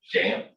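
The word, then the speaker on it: XAMPP: in the world is jam uh we're gonna go ahead and pronounce the x with the zh sound and it's a local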